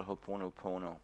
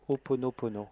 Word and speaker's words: Ho'oponopono: I would like to suggest to you a method called Ho'oponopono. Je voudrais vous suggérer une méthode qui s'appelle Ho'oponopono.